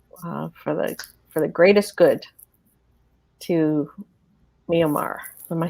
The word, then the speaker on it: Myanmar: energy and love for the greatest good to Myanmar? Am I saying it right? Myanmar.